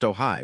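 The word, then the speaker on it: Ojai: For now, customers in these markets may be matched with the new robotaxi, called the Ajay, pronounced Ohai, when they hail a ride.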